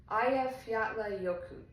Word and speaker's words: Eyjafjallajökull: The name in Icelandic translates directly to Island Mountain Glacier, which that's easy, but then I'll try and pronounce it. It's Eyjafjallajökull.